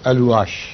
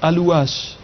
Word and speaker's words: Alouache: But I think this should be correctly pronounced, Miss Alouache. C'est donc Alouache.